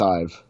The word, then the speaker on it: Ive: Yeah, well, and I mean, coming back to the design, like this guy here, it is Ive, right? That is how you say his surname, just Ive, or is it?